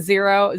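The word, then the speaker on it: Xero: Saturday fresh books and zero zero is spelled x r o and I have I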